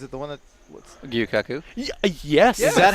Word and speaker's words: Gyukaku: What's, Gyukaku. Yes. Is that how you pronounce it?